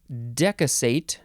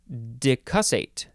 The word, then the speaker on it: decussate: Next is decussate, or decussate.